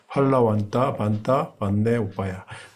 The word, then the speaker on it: फलवन्त: Bây giờ nó lại chạy một xí 아주 실성말레키고 자 펄러번떠 번떠 번네 오빠야 펄번떠가 아니라 펄러번떠라고 이렇게 발음을 하더라고요.